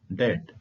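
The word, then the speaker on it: debt: उच्चारण में साइलेंट है डेट डी बीटी डेट डेट का होता है कर्ज स्पेलिंग में ब का उपयोग हुआ है परंतु चरण में भी साइलेंट है डब्लू को देखिए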